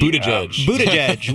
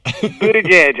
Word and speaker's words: Buttigieg: Buttigieg. We learned it. Mayor Pete. I practiced it 20 times before we interviewed him. Buttigieg.